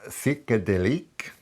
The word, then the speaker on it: Psychédélique: This is Psychédélique. I'm trying to pronounce it in the French way, but I'm sure it's butchered.